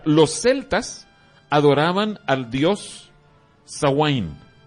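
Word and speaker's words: Samhain: celtas adoraban al dios a wayne esa es la pronunciación se escribe sanz hein pero dice a wayne y lo adoraban en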